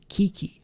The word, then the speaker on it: KiiiKiii: We are checking out the highly requested, highly suggested new girl group from Starship, which is Kiki, I think is the way that I'm supposed to pronounce this group's name.